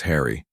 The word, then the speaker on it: Henry: Remember medieval Englishmen pronounced Henry as Harry.